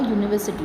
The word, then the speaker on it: university: When there is singular noun, at that time also we use a, which starts with E/U but pronounced as U. For example, a European, a university.